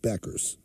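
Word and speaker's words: Bueckers: maor what I say the you is silent is Paige Beckers oh no is that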